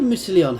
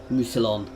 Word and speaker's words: Musilon: So why do Musilion have an army up there? Musilon. There's no extra I.